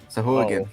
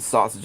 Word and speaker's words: sahuagin: Sahuagin. Sahuagin. There you go. Anytime I've said it in the past, was definitely not that. Me too. I think I pronounced it sausage at one time.